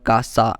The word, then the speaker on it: casa: Casa in Spanish and here you can see that we got C with another vowel a and this a makes C to pronounced as K therefore we can pronounce it House in Spanish as casa therefore a will join